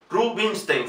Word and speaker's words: Rubinstein: Es Anton Rubinstein. Fíjense ahora, la S no es una S, sino una SH.